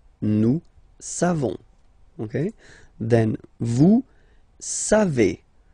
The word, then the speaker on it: savez: Then, vous savez. Classic ending for vous, E-Z, but then phonetically it's E.